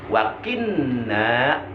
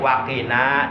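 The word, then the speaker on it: وقنا: Saya pernah mendengar ada seorang ustaz bacanya wakinna, itu salah. Ditasdidkan, nunnya dibaca taskil, ditasdidkan wakinna. Jadi wakina dibaca tahfif, enteng, qaf nun alif. Jadi qaf kasroki, nun alif patana, kina, artinya selamatkanlah kami.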